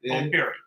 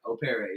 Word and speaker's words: O'Perry: Think of it as a French name. Think of it as French. It's not French, but it sounds like it.